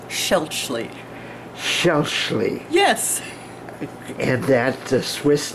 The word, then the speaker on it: Schaelchi: pronounce your last name my last name is pronounced schelchly yes and that swiss